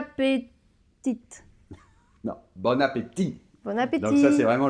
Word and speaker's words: bon appétit: le typique clichés donc bon appétit sans prononcer le thé finale bon appétit mais il me semble